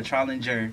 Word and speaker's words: Trollinger: Well, Trollinger. Trollinger. Yeah, okay. You pronounce it how it looks correctly, but my family just says it wrong probably.